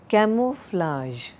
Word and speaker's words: camouflage: Camouflage, okay, not camouflage, okay, so camouflage, conscious, counterfeit, endeavor.